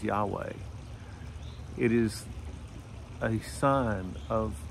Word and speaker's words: Yahweh: That's the four-letter Hebrew word that we pronounce as Yahweh.